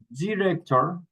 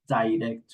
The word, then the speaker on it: director: You can pronounce director or you can pronounce director. And both are correct.